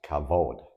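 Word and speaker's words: כבוד: that's spelled with the same letters and it's pronounced cavod oh I know this one Cod is Glory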